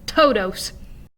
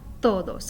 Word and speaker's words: todos: you would normally say you're going to put your tongue against the back of your teeth so it produces a softer sound rather than totos and of course a